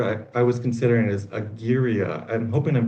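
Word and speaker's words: agyria: Another word I I was considering is a gira. I'm hoping I'm pronouncing that right. A g y r i a to the a of aware.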